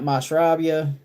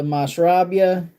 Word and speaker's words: Mashrabia: If you've not tried that Mashrabia, that is fire.